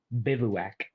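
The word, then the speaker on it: bivouac: Let's see if Google will give me a will give me a uh pronunciation there. It's a bivowwac.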